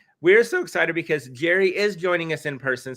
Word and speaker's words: Jere: You pronounce it Jerry. Not to not not to be confused with Gary Brooks, who's not Jerry, but Gary.